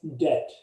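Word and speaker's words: debt: account अच्छा डेट अच्छा दूसरा वड है डेट अच्छा इस बी होता है वो साइलेंट होता है ये बात याद डेट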